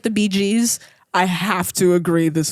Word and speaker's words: Bee Gees: the Bee Gees, it's pronounced the Bee Gees.